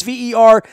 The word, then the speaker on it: Verderame: That's Verderame. The E is silent.